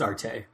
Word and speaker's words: Arte: you're watching there is is it pronounced art or art a art RJ it's arty arty its art a I talked about that